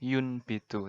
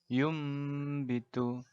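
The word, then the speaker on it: ينبت: Kata secara letterleks tulisannya yun bitu, tapi kita bacanya yum bitu.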